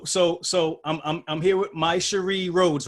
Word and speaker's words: Mysherri Rhodes: all right so so so I'm here with my Cherie Rhodes right I pronounced that correctly yes all right and and